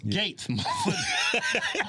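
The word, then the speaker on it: Gaetz: matt gates about nagat it's gates we like to pronounce this name like like how you see it you that's how black people are that damn eubonic i think it's gates when he should have spelled it g-a-t-e-s gates that g-a-e-t-z that throws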